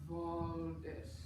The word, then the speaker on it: Waldes: It's Valdis. Yeah, so the accent is on the first phrase.